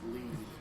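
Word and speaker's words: Lied: It's lead. It's also one where she at the beginning like you can't see. It's pronounced lead. Lead. Yes. I apologize. It's German.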